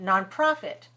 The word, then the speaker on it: nonprofit: it's a nonprofit right nonprofit nonprofit nonprofit three syllables stress the second 32 32 Kaa is